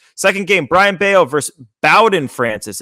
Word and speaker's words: Bowden: Second game, Brian Bayo versus Bowden Francis. It's not Bowden, it's Bowden. What? Yeah, it's Pronouncing it Bowden.